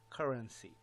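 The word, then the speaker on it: CRNC: all cryptocurrency called C R NC which is pronounced as currency so this is very exciting very huge there's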